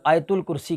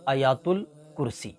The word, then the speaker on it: آیات الکرسی: میں بتایا تھا کہ اکثر لوگ اس کو آیت الکرسی کہتے ہیں، تو آیت الکرسی نہیں، آیات الکرسی، تو اس کا جو صحیح تلفظ ہے وہ ہے آیات الکرسی۔ پھر بعد نماز عشاء